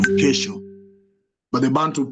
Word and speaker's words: kesho: You will say Kisho instead of Kesho.